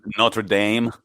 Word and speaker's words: Notre Dame: But then, and the funniest thing is the way Americans say it, like it's that Notre Dame.